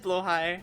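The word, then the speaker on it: Blåhaj: It is pronounced Blowhigh. Yeah, I said that, but I'm never gonna pronounce it like that.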